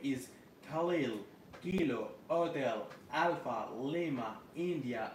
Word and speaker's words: Khalil: QSL, QSL, my friend, my name is Khalil Kilo Hotel Alpha Lima, India, Lima, Khalil.